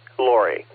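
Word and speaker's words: Laurie: Secondly, according to QRZ, Lori is spelled L-A-U-R-I-E. Yeah, so that would be Lori.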